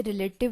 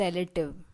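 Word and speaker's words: relative: Guys note कीजिए, यहाँ पर मोस्ट ऑफ द पीपल इसे रिलेटिव बोलते हैं, जबकि ये गलत प्रोनाउंसिएशन है। Correct pronunciation is रिलेटिव।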